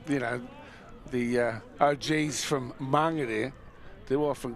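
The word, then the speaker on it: Māngere: know the og's from mangere they often call it mangry but anyway we won't be because that's not the way that the maori word is pronounced number 10 on the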